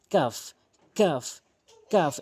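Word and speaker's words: ق: যেমন calf calf calf এভাবে উচ্চারণ করবেন।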